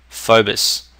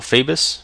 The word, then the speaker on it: Phoebus: using a graphics pack called Phobos or Phoebus, depending on how you want to pronounce it, doesn't really matter, and I'm using that because that just makes things much easier.